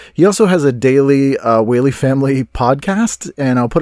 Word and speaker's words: Whaley: Frank, Wally, how are you, sir? Good. You can say Wally, but it's actually Whaley. Oh, it's Whaley.